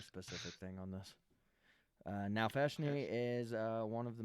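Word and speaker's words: Nalfeshnee: that as a brand in honor of a now feshni you spell that n-a-l-f-e-s-h-n-e-e I wasn't prepared for you to speak Abyssal I forgot so I'm giving you a specific thing on this uh now fashiony is uh one of the most grotesque demons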